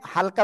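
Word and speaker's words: ح: অক্ষরটা ভালো করে শোনেন গলাটা চেপে হালকা মুখ দিয়ে বাতাস বের করে করে এক আলিফ টেনে উচ্চারণ করতে হবে হা সবাই একসাথে জোরে বলেন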